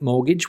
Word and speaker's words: mortgage: And a word like mortgage with a T in the middle, which is not pronounced, can be very confusing for some.